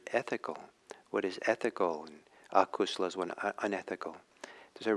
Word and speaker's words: akusala: And it's in Pali, it's Kusala and Akusala. Kusala is spelled K-U-S-U-L-A. No, K-U-S-A-L-A. And Akusala is the A in front of that.